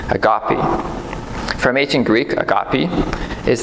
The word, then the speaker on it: agape: In Christianity, and it's got 3 different pronunciations of this word. The first one is agape. The second one is agape, and the third one is agape.